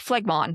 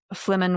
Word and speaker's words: phlegmon: It's spelled like phlegmon. So I'm like phlegmon, but it's phlegmon. It's like phlegm.